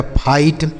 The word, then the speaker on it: fight: जैसे F से हो गया है, इस आई का उच्चारण दोस्तों आई हो गया। GHT से ट लिखा गया फाइट।